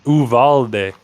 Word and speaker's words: Uvalde: It's Uvalde. Uvalde. The Uvalde. There's no U. It's just Uvalde.